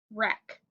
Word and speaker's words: wreck: W is silent, so we have k. Word is wreck.